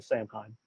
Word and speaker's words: Samhain: And we'll say as it hits around midnight, close to Samhain. Samhain. Do what? You don't pronounce it's pronounced Samhain. You don't pronounce the M.